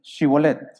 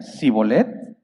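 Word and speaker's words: Shibboleth: Si le contestaban no, ellos decían, muy bien, di Shibolet. Si decía Sibolet, porque no podía pronunciar la palabra correctamente, lo agarraban allí mismo, en los vados del Jordán lo degollaban.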